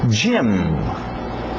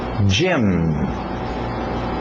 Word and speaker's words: gym: Gym, gym, gym. Parece o nome Jaime, gym também, mas vem de gymnasium, ginásio, comprido.